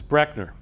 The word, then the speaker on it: Brechner: of the name so my last name is actually mispronounced by almost everybody that's the way it's actually pronounced is Brechner so if you take